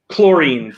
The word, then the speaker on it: chlorine: really chlorine, choir, school, stomach, right?